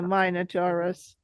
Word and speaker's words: Minotaur: residents of Athens send their sacrifice to the Minotaurus.